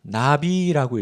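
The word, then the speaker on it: נביא: 자, 선지자는 히브리어로 나비라고 읽습니다.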